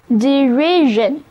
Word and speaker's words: derision: 就是他们嘲笑他的努力，认为太孩子气了。嘲笑的名词就是 derision, D-E-R-I-S-I-O-N, 是在 deride 后面把 e 去掉，再把 d 换成 s, 加上 ion 的这个表示行为的过程或者结果的名词后缀，我们发现把 d 换成 s 之后发音轻松了许多， s 在这里就发作 z, 那么单词就读作 derision, 嘲笑也指嘲笑的目标，笑柄。回到刚才那个孩子气的人，现在就可以说成His naive attitude provokes their derision.